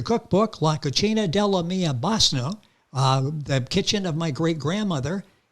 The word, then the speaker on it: bisnonna: BISNONNA is the correct way to say it.